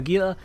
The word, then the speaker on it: Gila: So Ishtar is a Galente heavy assault cruiser, and the Gila is, or Gila for the more correct pronunciation, but Gila makes it clear what I'm talking about.